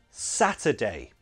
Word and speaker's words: Saturday: Saturday. So those two syllables are stressed. We will pronounce them properly. But the middle syllable is unstressed, weak form, schwa.